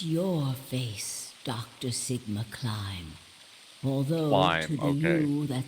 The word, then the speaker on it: Klim: Sigma Climb. Although Climb, to the okay. you that's behind it now, it's your face 45 years from now. Zero, the mastermind of the AB project. It's actually pronounced like climb, but that's cement.